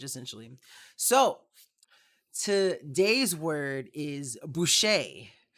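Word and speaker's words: buy'ce: entire mandalorian language essentially so today's word is boucher it's spelled really weird it's spelled b-u-y apostrophe c-e and it's pronounced boucher and it's it's mandalorian for helmet so like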